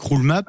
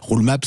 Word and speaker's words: Roole: Vous êtes le directeur général délégué de Roulemap. Ça s'écrit donc ROOLE.